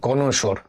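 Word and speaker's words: connoisseur: দেখো, কনশোর, এর সঠিক উচ্চারণ কনশোর।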